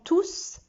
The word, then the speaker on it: tous: Et le S de tous est prononcé. Je dis, ils sont tous contents. Donc, quand tout avec S est pronom, je prononce le S.